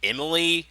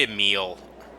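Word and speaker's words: Emille: You know, for the longest time, I pronounced her name Emily, but it's actually Emile.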